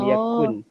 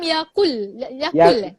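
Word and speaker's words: يكن: Walam yakul. Yakul. Yakun. Walam yakun. Ya kaf nun. Kalau ejaan Melayu dia Y-A-K-U-N. Yakun.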